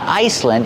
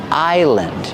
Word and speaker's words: island: Remember, the S is silent. It's not Iceland. It's island.